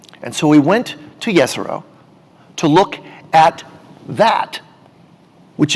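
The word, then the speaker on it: Jezero: We came to a place called the Jezreel Crater, pronounced correctly, Jezreel Crater.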